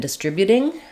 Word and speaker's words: distributing: Okay, questions about distributed, distribute, and distributing. So in distributed, first of all, distribute without the T, we have distribute. Second syllable stress, we have the I vowels and